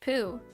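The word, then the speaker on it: Pou: Like when my friends were like, it's pronounced poo. I was like, I literally said like shit, like on the ground shit, and like they're like, well, and I was like, why is it spelled like po then? And they were like, well, it's spelled like po because like, I don't know, but it's pronounced like poo.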